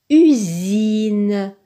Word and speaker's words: usine: Le mot suivant se lit usine. Usine. Donc, le S se prononce Z. Il est placé entre un U et un I. Il y a un seul S. Donc, il se prononce Z.